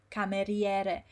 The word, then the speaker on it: cameriere: But in Italian, unless it's this case ciao and ciao, the vowels are pronounced and you want to hear it properly. So it would be cucchiaio, cameriere. Every single syllable is pronounced properly.